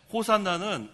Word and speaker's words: 호산나: 그 다음에 호산나는 그 히브리 발음으로 하면 호시안나 그래요.